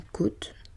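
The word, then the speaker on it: cote: Une côte sans second T ni accent circonflexe en dessin industriel, une côte de tableau de maître, la côte du président de la République, tout cela se prononce avec un O ouvert comme dans cocotte.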